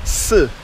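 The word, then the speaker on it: 四: It's pronounced si in Chinese, and death is pronounced si. So it's kind of similar.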